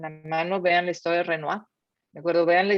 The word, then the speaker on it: Renoir: renault como se pronuncia los que hacen en francés hoy se produce como renoir ok perfecto carlos entonces